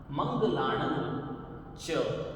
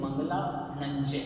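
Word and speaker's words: मंगलाणं च: सव पावक पणा सण मंगला च इन दोनों को अलग अलग बोलेंगे तो सहूलियत रहेगी और उच्चारण शुद्ध रहेगा अगर आप इसके टुकड़े कर देंगे मंगला नच जो कि एक मिस्टेक होती है ज्यादातर लोग इसे मंगला नच ऐसे बोलते हैं लेकिन वो गलत रहेगा मंगलानता हैं और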